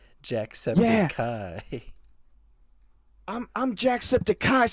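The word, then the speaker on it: Jacksepticeye: I am Jack sepai but it's spelled like septic still but it's Kai at the end instead of I Jack Septic Kai I'm I'm Jack Septic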